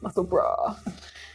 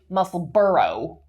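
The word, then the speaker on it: Musselburgh: It's like we have to bra muscle bra. I just find it a tricky word to say properly. Yeah. Because I want to say muscle burrow. Oh yeah. Because of how it's spelled.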